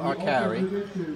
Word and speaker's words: Arcari: So tell me your name and spell it for me, please. My name is Arcari, A-R-C-A-R-I.